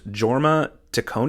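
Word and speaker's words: Jorma Taccone: was the director I believe his name is pronounced Jorma tone J toone which is funny because when I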